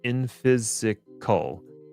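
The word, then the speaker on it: Infisical: open sourced and seems to be equivalent to vault and it's pronounced infysical.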